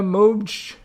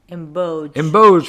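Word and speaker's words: Mbodj: Ritual Drummers, Ellie Barnes, Fatima Moj. Did I say it right? No. God, I always fuck that up. Say it. Emboj, Fatima Emboj, Geraldine Beskin, Jennifer Medway,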